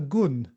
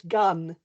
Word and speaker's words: Gunn: and this uh time my guest is Anna gon did I pronounce it well uh Anna it's it's gun it's uh it's Scottish it's a Scottish name